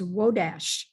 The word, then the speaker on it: Wodars: Wodars, I was aware that it could have an associated differentiation of the name like Wodash, because that's the actual pronunciation of Wodars in Silesia. It's Wodash.